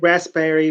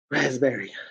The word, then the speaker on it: raspberry: Raspberry, it's raspberry. Raspberry. Raspberry. Because the P you don't say.